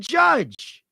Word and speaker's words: Judge: It rhymes with nudge, I think. Oh, yeah, Aaron Judge moved into sole possession of 7th place all time for single season home runs.